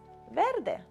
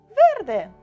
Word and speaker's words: Verde: I'm going to use some green which is Verde do you remember we say green in Italian it's yes well done Verde once we are done with our grass we